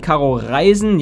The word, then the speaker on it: Caro Reisen: And the German channels are Phil and Caro Reisen. Yeah, I pronounce it German. Otherwise it doesn't make much sense.